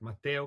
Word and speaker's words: Matteo: this is Matteo so m is it Mato am I pronouncing that correctly yes you are absolutely pronouncing my name correct Lane it's absolutely correct Mato awesome I uh